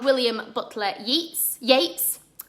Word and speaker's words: Yeats: by um a poet called william butler yeats yates spelt eats pronounciates in 1889 and it's generally known as